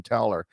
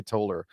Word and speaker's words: Toller: We had gane gane toller on recently uh I've been corrected on how to pronounce his last name. Been writing working with him for years and always called him Taler but now I will say Toller uh because I want